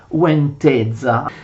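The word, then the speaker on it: Łęczyca: Possedeva Ladislao i principati di Sheraz e Uenteza, che anche se si scrivono in questo modo si pronunciano Sheraz e Uenteza.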